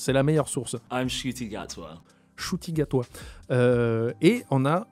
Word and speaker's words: Ncuti Gatwa: Faudrait que j'aille voir comment l'acteur lui-même le prononce, c'est la meilleure source. I'm Ncuti Gatwa.